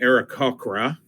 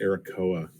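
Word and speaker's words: Aarakocra: we know that the era cochra uh I always pronounced that aracoa I've always pronounced it wrong always anyway um we'll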